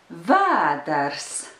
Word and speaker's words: vēders: Vēders. The rhythm is yes, no.